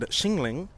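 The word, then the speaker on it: Qinling: searched up and it said Xingling. Chiggling. Xingling, it could have been racist, but I think that's how it is. Xingling Mountains.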